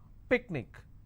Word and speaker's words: picnic: will stress on my picnic I will stress on pick let me bring this